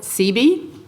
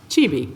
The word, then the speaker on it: Chibi: Okay, the second business is Chibi, and I've always called it CB, but it's pronounced Chibi.